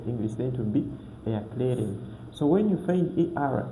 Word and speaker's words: erklären: We read it like air. Air. We pronounce air. Air. So for example, we have this word erklären.